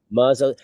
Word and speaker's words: mazel: But we pronounce it like Ashkenazi Jews who spoke Yiddish, who said mazel.